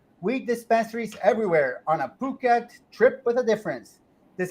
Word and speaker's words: Phuket: this story and it's Phuket with the uh emphasis on the second syllable no wait nobody ever